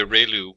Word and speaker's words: ReLU: we have the relu it's pronounced like re the from the sun and liu like a name so relu function and we have the